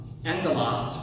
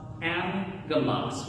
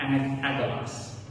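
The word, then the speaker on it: ἄγγελος: When the letter gamma appears before the letters kappa, chi, or gamma, it is pronounced with an N. So if you see the word angelos, right, is how you would think you would pronounce it.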